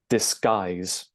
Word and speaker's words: disguise: And then I'll give you the pronunciation one more time, and make sure that you're stressing the second syllable out of these two syllables. So one more time, disguise, okay?